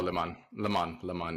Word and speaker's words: Le Mans: Oh, Le Mans is how it's pronounced actually.